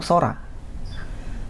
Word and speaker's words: 空: ya Nah kanji ini dikenal dengan cara baca yaitu Sora Sora itu artinya langit